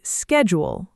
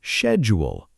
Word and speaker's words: schedule: Americans say schedule with a hard K sound. And British speakers say schedule with a soft SH sound at the beginning.